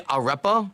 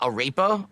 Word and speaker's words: arepa: Say arepa, not arepa. Okay. Yeah, arepa. That's what it is. Arepa, not arepa. Arepa, excuse me. Apparently it's pronounced arepa. There you go.